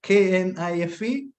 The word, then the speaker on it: knife: and phonetic sometimes and it is k-n-i-f-e it should be pronounced knife I know that every